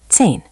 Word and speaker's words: zehn: Zehn, zehn. Beautiful. Those two sound targets, German z as ts and i as i, will make your numbers much easier to understand and be understood.